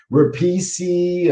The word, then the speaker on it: Repice: on the screen but it replicated how my my my family pronounced italian last name that's been butchered my whole life uh rapisi um a lot of